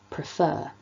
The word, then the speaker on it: prefer: that tells us that we need to stress the second syllable of a word like prefer so that's something to